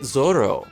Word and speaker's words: Zoro: fit the Japanese language it would be understandable for him to take away an are from Zoro's name and pronounce it Zorro in the end though it all comes down to personal preference I think Zorro sounds